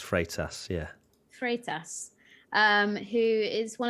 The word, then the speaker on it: Freitas: And I know that you've got stick for saying his surname wrong, so here we go. Freitas. I've learnt now. It's Freitas.